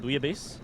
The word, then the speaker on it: bouillabaisse: Booyah base. Booyah base.